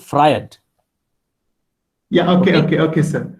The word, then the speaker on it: Freud: the name sigmund freud it is not fruit it is sigmund freud yeah okay okay okay